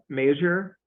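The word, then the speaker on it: Mazur: referee petrorca are you uh major yes sir am I pronouncing your last name correctly Yes actually oddly enough okay Senate last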